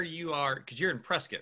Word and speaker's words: Prescott: are because you're in prescott right yeah which is spelled prescott prescott but it's pronounced press kit oh god which i've